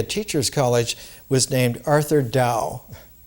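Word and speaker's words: Dow: college was named arthur dao not tao but d-o-w but pronounced dao and arthur dao had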